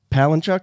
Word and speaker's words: Palahniuk: Palahniuk, isn't that his name?